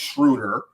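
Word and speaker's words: Schröder: the dennis schruter because i've been saying his name wrong this whole this whole podcast it's schroeder yeah i get that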